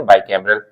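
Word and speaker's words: bicameral: बोलेंगे और द्विसदनीय को इंग्लिश में क्या बोलेंगे बाय कैमरल तो यून कैमरल की स्पेलिंग है यू एन आई सी ए एम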